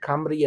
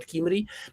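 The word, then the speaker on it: Cymry: There is only the, initial U can be A or E, but, like Camry and not Kimry.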